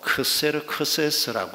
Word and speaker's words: 아하수에로: 오늘 본문에 등장하는 아하수에로는 히브리식 발음입니다. 그리스식 발음으로 크세르크세스라고 하는 왕입니다.